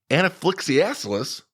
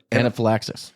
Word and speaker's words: anaphylaxis: UK caused twice as many deaths due to anifia as be stings because they can just keep going and going and going how do you say that word Jerry you're smart no anaphylaxis there you go Kyle yeah oh look at